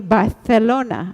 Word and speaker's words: Barcelona: She speaks English and Spanish and Catalan because she was born in Barcelona in Spain, or if we say it properly, Barcelona, right? Correct?